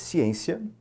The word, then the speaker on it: ciência: aplicada nesse caso aqui ciência a sílaba tônica está na última casa na penúltima ou antepenúltima penúltima transitórias sílaba tônica está